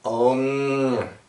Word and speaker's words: Om: So that is pronounced Om.